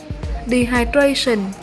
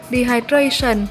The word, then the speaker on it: dehydration: Ngoài ra thì nếu như các bạn đọc từ này là dehydration thì cũng đúng luôn nha. Và cả hai cách đọc này thì chúng ta đều nhấn ở âm 3 nhé.